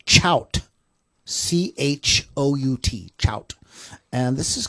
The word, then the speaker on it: Chout: That's Chout the band, and it's spelled CHOUT.